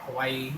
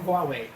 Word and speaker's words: Huawei: talking about Huawei and they pronounce it or Huawei or Hawaii. They call it Hawaii. How do you get Hawaii from Huawei? That's funny to me still. But it's Huawei.